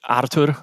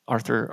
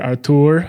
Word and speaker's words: Artur: right that's what it's it's originally artur i'm originally from poland but arthur just makes it easier for everyone so so arthur arthur's good arthur artur uh cool well thanks